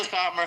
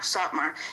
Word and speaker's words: Satmar: The Satar, is it called like the Satar? How do you say it? Most of the Satmar Hasidim live in Williamsburg. Satmar.